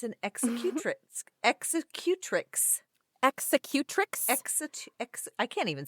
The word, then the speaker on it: executrix: It's an executrix.